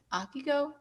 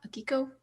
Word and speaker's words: Akiko: grace of it all was i'm going to mispronounce her name again akigo akiko thank you someone say it she was great